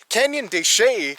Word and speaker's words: Canyon de Chelly: Canyon de Chelly is actually the Spanish pronunciation of the traditional Navajo word Chelly, which is their word for canyon.